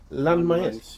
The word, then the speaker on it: Landmaes: How do you pronounce the name here? Is it Landmaes? Yeah.